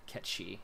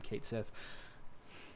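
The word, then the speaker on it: Cait Sith: not read yeah yeah catchy apparently it's the proper pronunciation but we all grew up calling him Cates if like normal people yes yes I think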